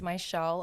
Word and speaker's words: Mizziel: So I have two Z's in my name, but it's pronounced like SH.